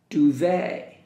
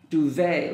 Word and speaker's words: duvet: no but sound comb duvet duvet letter T the last letter T is silent duvet chair bed all right